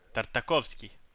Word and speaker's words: Tartakovsky: Yes, Samurai Jack by Gennady Tartakovsky. Tartakovsky, if they want to say it like a Russian.